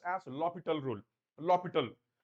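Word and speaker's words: L'Hôpital: People call it as L'Hospital rule, but actually it should be pronounced as L'Hopital rule. L'Hopital. H is silent. L'Hopital.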